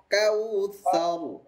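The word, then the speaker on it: كوثر: সবগুলো জোড়া লাগাবো একসাথে ইন্নাকাল কাউসার চমৎকার হয়েছে আবার বলুন তো একসাথে সবাই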